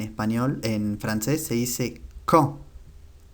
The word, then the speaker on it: quand: Cuándo, en español, en francés se dice quand. Quand. La última D no se pronuncia.